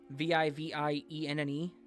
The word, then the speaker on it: Vivienne: Is that pronounced Vivian, I'm assuming? Our mom's... Vivienne. That's like VVNA. Sounds like French.